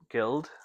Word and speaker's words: Guild: Unfortunately, a lot of the leading content creators that signed up, like Sorry, how do you so, pronounce it? Guild.